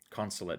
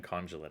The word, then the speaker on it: Consulate: Consulate. Consulate docks. A lifetime of saying conjulate.